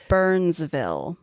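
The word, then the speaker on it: Byrnesville: that they had to but it's spelled B Y R N E S B I L L E. So Oh okay. Burns like the name.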